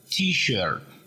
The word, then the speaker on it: T-shirt: Solo que en este caso se pronuncia t-shirt.